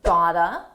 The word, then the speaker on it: got to: "Got to" is pronounced "gotta". I "gotta" hand it.